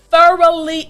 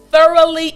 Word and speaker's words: thoroughly: i want you to repeat after me thoroughly enjoyed good th put your tongue through your teeth thoroughly enjoyed excellent now this